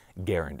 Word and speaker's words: Garand: it so john c garand actually put out a note and he asked that his preferred way of his name being pronounced was garen as in errand so we'll put a